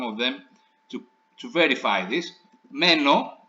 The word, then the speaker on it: μένω: Μένω, you see the stress is on the stem, right?